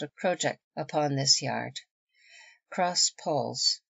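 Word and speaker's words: cross-jack: little ahead of her cross track yard pronounced project yard the lower yard on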